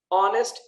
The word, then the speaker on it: honest: Honest, H is silent.